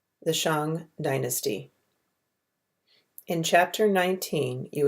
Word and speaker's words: Shang: china and start a dynasty the shang produced pronounced shang was one such clan for hundreds of years